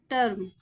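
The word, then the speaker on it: term: आएगा आ हर्ब ठीक है टीई आर एम टर्म वी ई आर B verb clear है आगे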